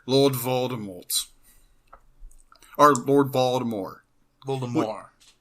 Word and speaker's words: Voldemort: Voldemort. Voldemort. Technically, you don't pronounce the last T.